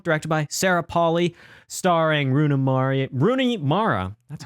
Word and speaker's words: Rooney Mara: This one directed by Sarah Polley, starring Rooney Mara, that's how you say her name, Claire Foy, Jessie Buckley, a little bit of Frances McDormand in there too.